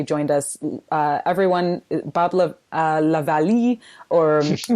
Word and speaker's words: LaVallee: grateful that you joined us everyone Bob loved Lavallee or how did you pronounce it Valley Valley okay and so grateful to have you